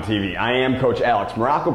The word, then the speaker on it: Maroko: I am Coach Alex Maroko, pronounced just like the country. You just heard me say it, but spelled absolutely nothing like it.